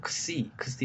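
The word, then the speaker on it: ξ: 크스 이게 뒤에 이 붙여서 크시 이렇게 발음이 나는 건데 이거 x라고 똑같은 거고요.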